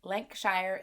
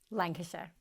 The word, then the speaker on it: Lancashire: mind for business after leaving her hometown in lanc shire england lancashire i knew i wasn't going to say it